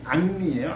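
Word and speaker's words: Henri: 헨리 프랑스식 발음이 앙리예요.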